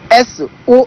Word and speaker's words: Sao: Le mot Sao a été utilisé en arabe et ça s'écrit S-O accent circonflexe. Le premier mot, c'était comme ça que c'était écrit. Ça se prononce toujours Sao. Ça se prononce So.